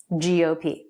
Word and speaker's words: GOP: for grand old party we always put stress on the last letter of an acronym gop gop the color red and